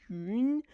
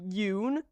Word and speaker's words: Yun: my first language, but it's pronounced "yun," and it's different from "oo," which is what we have in English. So like I just tell people like you can just say Yoon, which is like an American pronunciation, but that's technically not her name.